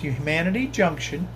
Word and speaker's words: Humanity Junction: will be Heath from Humanity Junction. Some people, you look at it as Human City, but it's pronounced Humanity Junction.